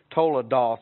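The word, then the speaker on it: תולדות: starting out with another here's a word told it's not spelled that way toll of doth is how you say it mississippi but if you're hebrew it's told a word we've talked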